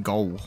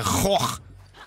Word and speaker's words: Gogh: People say Vincent from Gaul or something. We say Goch. That's what we say.